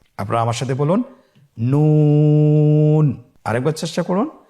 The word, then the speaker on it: নুন: নুন হরফটি উচ্চারণের ক্ষেত্রে অবশ্যই পাতলা করে উচ্চারণ করতে হবে এবং তিন আলিফ টেনে পড়তে হবে। আপনারা আমার সাথে বলুন নুন। আরেকবার চেষ্টা করুন নুন।